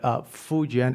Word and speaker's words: Fujian: But Fujian, it is exactly how it's pronounced.